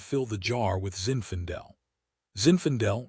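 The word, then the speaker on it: Zinfandel: Zinfendel rhymes with infidel sort of and that's how Hayden fresh back from Afghanistan makes me feel.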